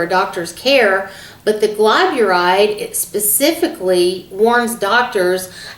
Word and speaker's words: glyburide: I've got it written down because I want to make sure I pronounce it correctly. It's glyburide.